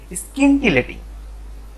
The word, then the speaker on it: scintillating: SCI এর অর্থ হচ্ছে স্কি, SCI স্কি। তারপরে NTI মানে দন্তের ন টয় রশ্মি, তাহলে হচ্ছে স্কিনটি, স্কিনটি। তারপর লেটিং, LATING, তাহলে রুশ উচ্চারণ হচ্ছে স্কিনটিলেটিং।